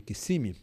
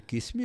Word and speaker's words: Kissimmee: queriam saber mais coisa que eu achava de Kissimmee. Eu falei, olha, foi interessante, quando eu cheguei aqui eu vi que a cidade não chama Kissimmee, porque o cônsul também chamava de Kissimmee, eu fiquei chamando de Kissimmee, até chegar aqui que eu vi que não